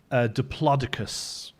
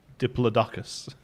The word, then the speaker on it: Diplodocus: And I also enjoy Diplodocus, which I think is how you're meant to pronounce the one that I for years called Diplodocus.